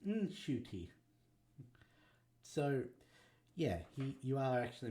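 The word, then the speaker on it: Ncuti: said my whole life it's Sho tea as in shoe and te and after I said that on an interview I got a call from my mom she's like that's not how you pronounce it it's shoy so yeah you are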